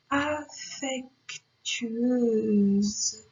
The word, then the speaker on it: affectueuse: Adorer, affectueuse. Le S se prononce Z parce qu'il est entre une voyelle et une autre voyelle.